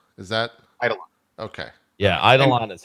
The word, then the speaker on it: Eidolon: Yeah, Eidolon is how everybody pronounces it when you go visit them in Canada.